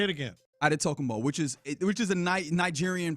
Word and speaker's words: Antetokounmpo: He says Giannis Antetokounmpo. Antetokounmpo. I said it wrong again. Well, Antetokounmpo is how a lot of people would say it, based off of the Greek spelling.